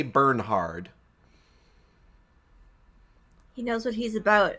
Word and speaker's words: Bernhard: I'm sure it's supposed to be pronounced Bernard or Bernard, but there's an H in there, so I like to say Bernhard.